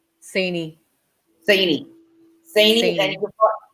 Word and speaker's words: Cini: Cini.